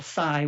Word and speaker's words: psi: validating any kind of what they call SCI which is spelled psi phenomena as a survival mechanism